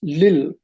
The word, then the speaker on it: Lil: The word is pronounced, people that know how Sumerian is pronounced say it was pronounced Lil, which once again is